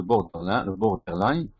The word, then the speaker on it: borderline: Le borderline. C'est ça la bonne prononciation, le borderline.